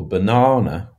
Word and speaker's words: banana: So, for example, banana has stress on the middle syllable.